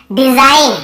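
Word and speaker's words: design: जी का क्या रूल है भाई, एन के पहले जी हमेशा साइलेंट होता है, ठीक है।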